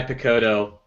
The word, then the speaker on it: Picciotto: it either it's okay it's like piccolo but not anyway I just couldn't